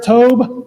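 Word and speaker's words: Tobe: And then next is going to be Sheriff Tob Lesenby. He's the Carol County Sheriff. It's T O B E and it's pronounced Tob and last name is Lesnb L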